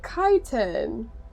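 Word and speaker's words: chitin: Kiten. That's how you pronounce it.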